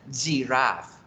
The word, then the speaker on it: giraffe: Por eso hay palabras que se escriben con J como jirafa, que en inglés se pronuncian giraffe, giraffe.